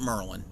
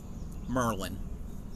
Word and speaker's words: Maryland: Oh, Maryland? Yes. The easy way to remember how to say it is think of the wizard, Merlin. Pronounce it Merlin. Merlin.